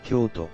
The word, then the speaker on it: Kyoto: toe Toyo meanwhile in Kyoto the toe is pronounced with a sharper and shorter annotation lacking the elongated vow Kyoto thus the similarity in their name stems from